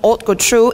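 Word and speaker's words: haute couture: house that specialized in Auto true and ready to wear clothes luxury goods and fashion accessories and he wrote patru is a French vocabulary the ash doesn't pronounce it means the high-end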